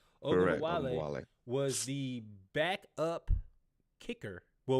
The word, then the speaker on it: Ogunbowale: And what's really cool about this is Dare Ogunbowale. That's right. I said it right. Ogunbowale was the backup kicker.